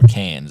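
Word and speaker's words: Cairns: Me and Steven went to Queensland to uh, cans or cans as I believe they call it because they don't like pronouncing Rs.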